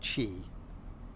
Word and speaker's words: Qi: not Chi it's Qi it's pronounced Chi it's spelled Qi and it is a